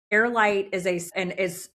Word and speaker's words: HeirLight: What I really love about HeirLight, so for those of you listening and watching, it's really HeirLight it's spelled HEIR, so like the air, okay?